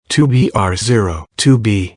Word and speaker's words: 2BR0 2B: The zero in the telephone number he pronounced not. The number was 2BR0 2B.